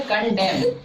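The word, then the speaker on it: condemn: तो देखो और एन साइलेंट कब रहता है? जब एम के बाद आता है। अगर एम के बाद एन आ रहा है तो एन लेटर साइलेंट रहेगा। तो इसको पढ़ते हैं कंडेम।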